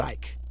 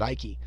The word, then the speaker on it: Icke: can be a David Ike I don't know why people insist on calling them David iky without just watching a YouTube video and figureing how to say his name um you can be